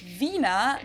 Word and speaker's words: Wiener: we say Wiener. The German W Wiener. is pronounced like an English V.